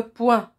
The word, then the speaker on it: poing: dont un coup de poing il se termine par g la lettre g et